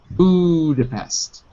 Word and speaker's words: Budapest: So the stress is on the first syllable. Budapest.